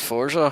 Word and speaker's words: Forza: We missed out Forza. Forza, Oh, that came Forza. before. or as they kept pronouncing it, Forza. Forza. Forza. There's no T.